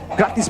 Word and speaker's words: gratis: If you guys don't want to know what that means, that is, gratis means free in Indonesian. Yes, sir. Gratis. Pronounced just like that.